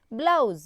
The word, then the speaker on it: blouse: Blouse. B-L-O-U-S-E. Blouse. Blouse rhymes with house.